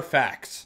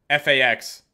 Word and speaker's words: facts: but facts are facts it's kind of a weird word to say when you actually pronounce it facts like I almost just want to say facts like fax like a like an ax with an F in front of it one new slot unlocked